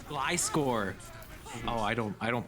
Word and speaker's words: Gliscor: uh glasgow i don't i've been told i've been saying it wrong now a beta oh is it really how do i how am i supposed to say it it's it's glyscor it's a pokemon gly score oh i don't i